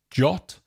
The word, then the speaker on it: JWT: JWT, that we pronounce as JOT, stands for JSON Web Token.